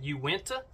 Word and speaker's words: Uinta: These are the, pronounce it Uinta, early season pants.